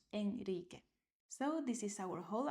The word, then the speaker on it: Enrique: So those keywords are Israel, al alrededor, and Enrique. So this is after S, after L, and after N. After these consonants, you write only one R, but this is pronounced like a strong one. Israel, not Israel. Alrededor, not alrededor. And Enrique, not Enrique.